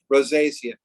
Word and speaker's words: rosacea: um rosacea rosacea just make sure everybody can pronounce that properly rosacea and we're going to talk about psoriasis and